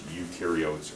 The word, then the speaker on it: eukaryote: you are eukaryote and this is pronounced you so prokaryotes generally are